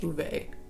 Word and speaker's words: Ove: Man Called Ove, and is it Ove or Uve? I believe it's Ove. They pronounce it Ove.